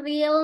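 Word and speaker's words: riil: Makanya dibacanya real bukan real. Jadi di sini yang tepat adalah akibatnya pendapatan ril menurun sehingga banyak masyarakat semakin susah memenuhi kebutuhan sehari-harinya.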